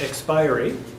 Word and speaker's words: expiry: He thinks it's pronounced expiry, which I looked it up. It actually can go either way.